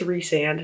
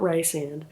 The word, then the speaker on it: Rhysand: I just called my friend who loves the series and she said it's Rhysand, not Rysand, because that's what the audiobook says.